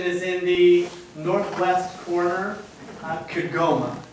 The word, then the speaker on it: Kigoma: That location is in the northwest corner, Kigoma, I believe is how you say the name of the town that they're working in. And their goal is to